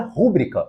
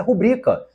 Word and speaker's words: rubrica: em razão desse acento gráfico então não se pronuncia rúbrica O correto é rubrica então a letra C já morreu mas veja